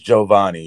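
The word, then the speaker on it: Jovanni: for regardless so yeah but it's giovanni spelled it's spelled j-o-v-a it's not like giovanni this is giovanni yeah real quickly real quick before i let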